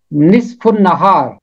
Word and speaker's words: نصف النہار: مطلب ہے دن، اور اس لفظ کا تلفظ ہے نصف النہار، نصف النہار۔ اگر آپ اس کے علاوہ کچھ پڑھتے ہیں یا سنتے ہیں وہ غلط ہے۔ کیتھولک ترجمے میں ایک